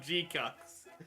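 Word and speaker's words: GQuuuuuuX: Let's talk about G-Cucks. And yes, we will pronounce it as G-Cucks. Not because it's funny. Well, okay, because it's funny to call it G-Cucks.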